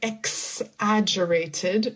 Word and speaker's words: exaggerated: Instead of like exaggerated, we say it more like egg, like the food. Exaggerated. Exaggerated. And the it's also similar to the Z exaggerated ex exaggerated she